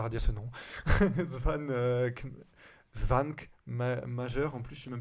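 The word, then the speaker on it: Švankmajer: Svan Svank Major, en plus je suis même pas sûr que ça se prononce comme ça vu que c'est tchèque.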